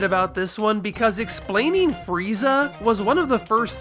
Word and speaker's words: Freeza: So, freezer in Japanese phonetics is furiza with a fu because there is no stand-alone f sound in Japanese.